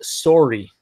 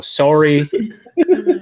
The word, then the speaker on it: sorry: And then Jamie, to translate to the Canadians, he said pronounced sorry, as they like to pronounce it up there. Anything with that, with the hard O, sorry.